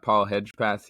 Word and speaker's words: Hedgepath: enjoy welcome back to constructive everybody I got Paul hedgepath here with me today I pronounce that right correct yeah yeah that's right